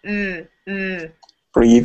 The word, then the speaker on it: breathe: Breathe Yeah. and loathe. Is that like a pronunciation question? Yeah. It's the same TH sound. Breathe and loathe. The vibrating TH sound.